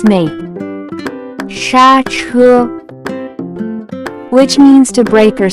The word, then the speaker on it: 刹车: Next vocabulary that we have is brake foot, pressing a brake pedal, which in Chinese can be pronounced as 刹车, 刹车, 刹车.